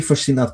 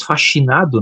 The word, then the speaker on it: fascinado: Tu falaste que estavas fascinado, né? Eh, vocês pronunciam o dígrafo do SC com o som de ch, com som de X, né? Para nós aqui a pronúncia disso é fascinado, né?